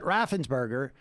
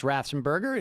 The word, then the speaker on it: Raffensperger: In other words, they were upset that Raffensperger, in many respects, did not act like Kemp